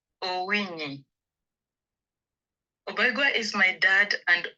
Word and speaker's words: Owinyi: So let me ask you to pronounce your name the way you love it to pronounce, and tell us a little bit about yourself. My name is Obaigwa Owinyi.